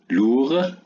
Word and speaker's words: lourd: Lourd, lourd. Est-ce qu'on a prononcé le D? Non.